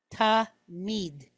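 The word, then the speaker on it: תמיד: have one two so this word has two syllables in it t is the first syllable then we have the letter me which is an M sound and it's pointed kod all right and then a doet so we have m e d mid tamid okay tamid all right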